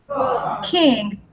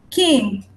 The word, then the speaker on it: king: God, king, rock, sword. You see the pronunciation. King. You don't pronounce the G.